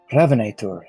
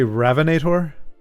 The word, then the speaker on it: Hrafnætur: You say Ravinator? Hrafnætur. I was like, so, I'm the Ravinator. I will ravinate you. Let me just pronounce it slightly better, which is still terrible, but not anglicizing the pronunciation.